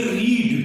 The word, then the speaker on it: read: और READ, ये रीड, जिसका मतलब पढ़ना होता है, उसकी सेकेंड और थर्ड फॉर्म, जिनकी स्पेलिंग तो सेम ही रहती है, READ, लेकिन इसको प्रोनाउंस यानी उच्चारण करते हैं रेड, तो ये वो रेड है।